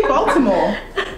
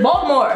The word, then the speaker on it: Baltimore: Say Baltimore. Baltimore. Where's the T? Say Baltimore. People Baltimore. People from Baltimore don't even say Baltimore with the T. Like, you see how you're struggling to say it? It's Baltimore.